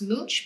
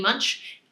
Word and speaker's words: Munch: So a famous painting that uses this color scheme is, I think it's pronounced Munch, but it might be Munch. I would say Munch as an English speaker, but Edvard Munch, the Scream, uses the split complementary color palette very effectively.